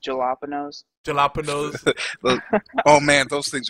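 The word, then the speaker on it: jalapeños: Yes, just like It's pronounced jalapenos.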